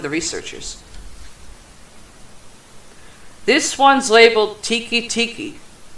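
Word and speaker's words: Teke Teke: This one's labeled Tiki Tiki. Not tiki as in the drink or freaking hut. It's spelled T-E-K-E. Ah. Tiki Tiki is the ghost of a Japanese schoolgirl who roams the train stations of Japan.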